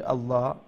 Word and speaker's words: الله: then the lam of the word Allah will be pronounced with empty mouth.